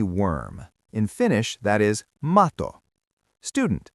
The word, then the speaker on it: mato: In Finnish, that is mato. Student, say mato. Mato. Good. One T, one quick beat.